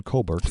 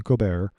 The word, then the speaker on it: Colbert: This is the Shari Redstone who owns Paramount, who has recently canceled the Stephen Colbert report Stephen Colbert report because, yeah, that's how it's spelled.